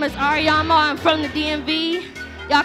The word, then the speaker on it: Årämø: Again, my name is Årämø, I'm from the DMV. Y'all can follow me on my social media. It's at Årämø _music_.